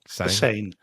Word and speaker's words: Seine: Seine.